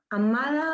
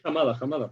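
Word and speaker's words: Hamada: Amada. Sí, Jamada. Bueno, sí, Amada o Jamada. Es Jamada, pero es con H.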